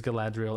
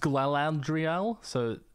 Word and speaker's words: Galadriel: Love your videos, Galadriel. It's actually pronounced Galadriel, but thanks for trying.